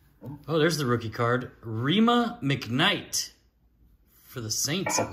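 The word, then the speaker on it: Rhema: Rima McKnight for the Saints, it looks like. Who? Yeah. How do you spell that?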